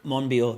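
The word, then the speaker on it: Monbiot: rupert reed and george um i can never pronounce his second name moneyball moneybot monreal monbio that's it that's it um and yeah you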